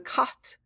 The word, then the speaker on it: Khat: Remember, their body was the 9th part of the soul, called the Khat, the K-A-H, and kind of pronounced K-H-A-T.